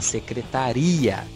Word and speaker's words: secretaria: A mesma palavra que eu digo foneticamente não. É graficamente dizendo. Foneticamente, ela é totalmente diferente. Secretária, secretaria.